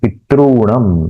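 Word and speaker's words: पितॄणम्: वैसे ही दो ऋकार समझो एक सामने आए तो पितृऋणम, उसका उच्चारण होगा पितृणम, पितृणम, दीर्घ उच्चारण करना है।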